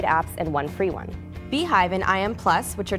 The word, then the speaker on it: BeeJive: Beehive, which is pronounced Beehive and not Beejive as I originally thought, gives you a very pleasing user interface that kind of mimics the native SMS feature on your iPhone.